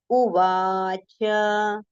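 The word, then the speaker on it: उवाच: So it is Arjuna, Arjuna Uvacha, Uvacha. Okay, so Na and Cha, these two letters we have to take with a complete pronunciation.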